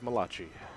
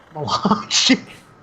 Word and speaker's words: Malachi: No, that's Malachi, who for the longest time I pronounced as Malachi. Malachi. I see the C-H-I, I say chi.